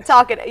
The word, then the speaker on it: Talcott: Aaron Talcott. Am I pronouncing that right? That's correct. Okay, Talcott.